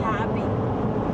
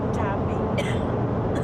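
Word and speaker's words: Täby: You're actually going to Tabby. Tabby? Tabby Shurka is church. Tabby is where the town you're going to sleep in tonight.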